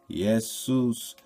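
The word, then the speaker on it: Ἰησοῦς: from the Hebrew Joshua Jesus in Greek is pronounced esus yesus Seuss is swine Su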